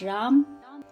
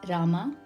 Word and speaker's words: Rama: The correct pronunciation in Sanskritam is Rama.